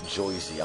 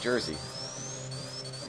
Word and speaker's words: Jersey: Oh, nobody pronounces it Joyzy.